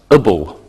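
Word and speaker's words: -able: An adjective can end with A-B-L-E, which is pronounced ibble.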